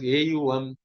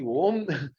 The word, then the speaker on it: Om: But when you actually do the Ucharanam, the pronunciation, it should be Om. It should not be Aum and all that.